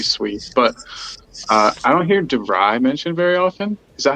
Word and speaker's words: De Vrij: But I don't hear De Vrij mentioned very often. Is that how you pronounce that? Yeah, De Vrij.